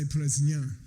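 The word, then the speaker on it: प्रज्ञा: Prajna, say Prajna. So the Russians are correct pronunciation, Okay, я знаю, да?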